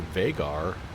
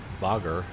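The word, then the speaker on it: Vágar: the uh payware vagar vagger. How do how do you say that? Vagger. Vagger. There's a vugger. Vugger. It's a way to pronounce that a with a with a little mark over it there.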